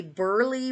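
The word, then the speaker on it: Burleigh: have a sale on so far is a Burly wear and I'll spell it for you it's b-u-r-l-e-i-g-h so I think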